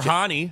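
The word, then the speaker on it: Hany: Uh, I don't know how to pronounce his first name, but McKar of the Columbus crew is called Hanny. Hanny Mktar. Okay, that's the uh or Hani like uh the Hanis here in Metro Detroit, right?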